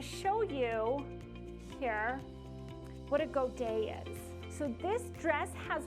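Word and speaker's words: godet: this little um black dress has what's called godays in it and i'm going to show you here what a go day is so this dress has what's called a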